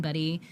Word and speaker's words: Budde: to reach out calling buddy bde yeah not why uh but it's pronounced buddy like Buddy the Elf or just stop in